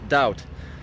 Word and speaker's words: doubt: Piszę się d o u b t ale czyta się bez tego B daut.